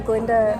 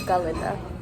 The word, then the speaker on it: Glinda: so when Glinda announces that the Ga is silent, and she's just Glinda instead of Galinda.